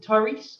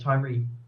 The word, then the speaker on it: Tyree: Is it Tyrese or Tyrese? How you say it? Tyree.